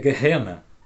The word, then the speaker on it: Gehenna: A segunda palavra também é hebraica, que significa que se pronuncia Gehenna, Gehenna, tá?